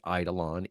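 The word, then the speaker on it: eidolon: in this open source project and again it's idolon EI d i l n I think on Eid look I'm going to spell it out it's going to be easy yeah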